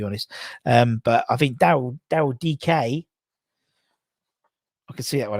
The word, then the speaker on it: Nketiah: It's pronounced DK. Oh, it's not Dyke. DK.